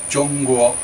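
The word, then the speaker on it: 中国: In fact, China's name in Chinese is Zhongguo, pronounced Zhongguo, which translates as middle country.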